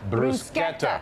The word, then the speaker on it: bruschetta: Bruschetta. With a K. Just think of a K. There's no K in bruschetta, really, but that's how you And pronounce I've got to explain it.